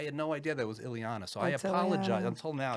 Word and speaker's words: Ileana: ladies and gentlemen ilano Ilana I just said your name wrong I can't believe I just said your name all these years we're working uh together on S talks fighting with each other and I was calling you ilano I had no idea